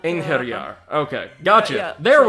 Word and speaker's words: Einherjar: No, I think that you need to, like, accentuate the H a little bit more. Einherjar, but... Einherjar.